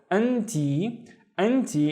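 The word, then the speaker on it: أنتِ: Now the first syllable is an, and the second syllable is ti, and I hope you can see why I'm doing this. So anti is you, but if I'm talking to a female, right?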